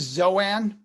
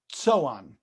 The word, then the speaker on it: Zoan: go to this map you see this zoan that's actually pronounced so on so on as we're